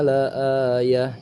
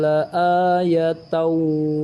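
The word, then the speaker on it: لآيةً: Jadi perbedaan membacanya, inna fi dzalika la ayah jika waqaf, namun jika wasal atau disambung, inna fi dzalika la ayatan wa ma, seperti itu kurang lebih.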